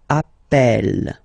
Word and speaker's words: appel: the pronunciation of uh you tend to pronounce it like e e really open that's the reason why you pronounce it Appel Appel okay Appel Appel